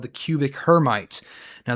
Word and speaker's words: Hermite: And that is called the cubic hermite. Now that is mispronounced. Hermite. Her mi t is uh French probably off of a French um mathematician.